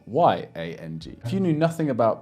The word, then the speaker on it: yang: which if it's by itself will be spelled y-a-n-g if you knew nothing about pinyin or Mandarin before you watch this video you might think that this is pronounced young because it has the arm spelling there right